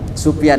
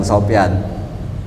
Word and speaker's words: Sufyan: Ya, faqala Sufyan ya, bukan Sofyan. Kalau Sofyan pakai sod, ini pakai sin.